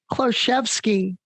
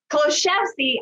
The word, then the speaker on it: Kloshevsky: Oh, I'm messing up your last name. Say it. Kloshevsky. Kloshevsky. I never would have said it that way. So I'm so glad you helped me with that introduction. It's not pronounced like it's spelled.